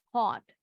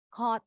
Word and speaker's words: caught: Caught, bacanya tadi mirip nih dengan bought. Nah, Sama ini UGH-nya nggak bunyi, UGH-nya juga nggak bunyi. Tapi yang ini A-nya berubah bunyi jadi O. Caught. Caught.